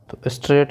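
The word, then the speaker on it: straight: इन the following word स्ट्रेट में जो silent word है कौन सा है स्ट्रेट में एस टी आर ए टी इनका तो हम साउंड करते हैं लेकिन इनको इनका साउंड नहीं होता इसलिए साइलेंट लेटर्स कौन-कौन से हो गए आई जी एच और काम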